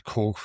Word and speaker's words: Koch: The Koch bro-Koch It's pronounced Koch. Oddly. I don't know why. The Koch brothers I'm going to have to take it fun with that.